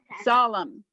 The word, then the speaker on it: solemn: means very serious promise solemn you don't pronounce both the m and the n you just pronounce the m solemn the n is silent okay i will bless